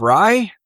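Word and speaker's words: Righ?: And then Steve Rye, and I say it like that because it's got a question mark. Yep. It's RIGH question mark.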